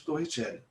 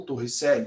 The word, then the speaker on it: Torricelli: sobre a equação de Torricelli ou Torricelli dependendo aí de qual pronúncia você prefere então nós estamos estudando